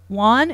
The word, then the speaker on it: Wone: peacock that is very intriguing who killed Robert Wan is that how you pronounce his last name yeah who killed Robert Wan yeah what's what's the premise so people know